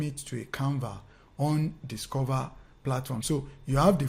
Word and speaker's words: DSCVR: one platform it is called dscvr platform but pronounced as discover so it's like a short form of discover you understand some of